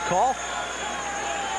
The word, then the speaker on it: Cahill: The officials for this evening's contest, Tommy Lopes, John McDonnell, and Daniel Call, it's pronounced, spelled as Cahill, pronounced as Call.